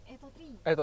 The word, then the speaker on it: Atto: Bacanya Atto atau Eto, Mbak? Atto 3.